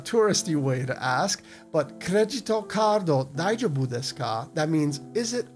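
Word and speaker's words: クレジットカード: we wouldn't say credit card the way we pronounce it in English we would say cregito cardo and to ask the wait staff one of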